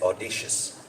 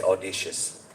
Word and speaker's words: audacious: So I know how to say audacious. I used to say audacious. So she keeps telling it's audacious, audacious.